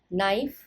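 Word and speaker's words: knife: कहते हैं loaf lobes नाइफ नाइव्स के साइलेंट रहेगा नाइव्स हाउस वाइफ हाउस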